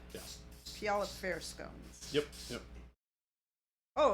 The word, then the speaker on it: Puyallup: that city in Washington that is hard to pronounce Puyallup yeah Puyallup Fair scones yep oh it's a recipe oh